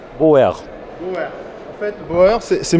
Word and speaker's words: Beauer: Das wird ungefähr wie ausgesprochen? Boer. Boer.